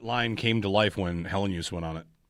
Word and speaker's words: Helenius: Yeah, use. The word use. Helenius. In the second part. 3 syllables. He said it. It's Helenius. Helenius.